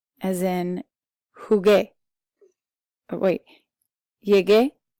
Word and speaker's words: jugué: G sound, as in jugué. Oh, wait. Llegué, jugué. Navegué, pagué. Even though the U is silent, it makes you pronounce this G like G.